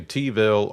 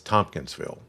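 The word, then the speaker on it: Tompkinsville: Or as the locals say, they either say Teville or they say, "Yeah, I live over home over home." If you hear somebody say that, "Yeah, I live over home." It's Tomkinsville.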